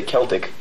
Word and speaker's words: Celtic: Well, both are acceptable, actually. Yes. In parts of Britain, they mostly say Celtic. And since that's where the Celtic race is from, I guess Celtic is correct. Uh-huh. So how do you say? We say Celtic. I'm from the States, and that's how we pronounce it.